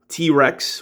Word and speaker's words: T-Wrecks: target exclusive leader class t-rex with a w a silent w and this is composite